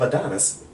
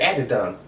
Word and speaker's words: Adidon: first Life of Adderall, yeah, how do you pronounce it? What is it? He just said Life of Adonis. Right, that's the boy's name? Yeah. Oh. He said Adidon.